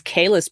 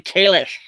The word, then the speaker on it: Kahless: cuz it you know we all thought it was Kahless but no it's parently Kalish well here's what those teeth in think there's any other way to pronounce it not true yeah not true because up until discovery it was just Kahless and many Klingon said it that way so yeah it's it's